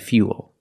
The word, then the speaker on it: fuel: But remember, with fuel, we have the same spelling pattern, but the pronunciation's a little different. We put that Y sound in there. Fia, fia, fuel.